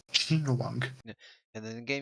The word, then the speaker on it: Jing Yuan: About these guys, no, except the name of this character is pronounced Jing Yuan. Jing Yuan.